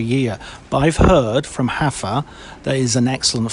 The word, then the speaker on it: Rafa: It's not Rafa? Yeah, you've been pronouncing it incorrectly all this time. Oh! Oh, yes, because it's not Ronaldinho, it's Juanadinho. Yes, that's true. Okay, so Hafa.